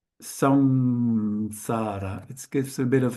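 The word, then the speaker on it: saṃsāra: It's pronounced with a bit of a nasal here actually over here because this is a anusara.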